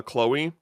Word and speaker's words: Chloe: Um also like Christina V is uh is uh Chloe or Chlo Chlo for me Chloe for the official.